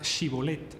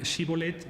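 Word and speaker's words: shibboleth: pueblos era este alófono los de galat decían shibolet mientras que los de efraim eran incapaces de pronunciar esa palabra decían shibolet con con ese de manera que cada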